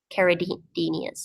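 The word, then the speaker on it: Neocaridinas: ones, but definitely some neocaridinias. Yeah. If that's Yeah. how you say it, They're neocaridinias. Yeah. narrow Chiridenia. Yeah. Yeah. Carid, not Di.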